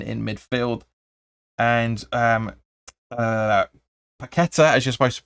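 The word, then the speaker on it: Paquetá: rice and emerson in midfield and um uh paqueta as you're supposed to pronounce him and scamaca up front on the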